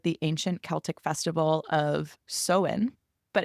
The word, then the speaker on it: Samhain: tradition originated with the ancient Celtic Festival of seen but it's spelled samine the pronunciation is actually seen apparently during this ancient tradition people would light